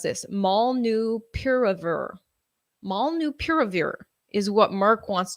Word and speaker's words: molnupiravir: And then Merck's pill called, okay, how do you pronounce this? Molnupiravir.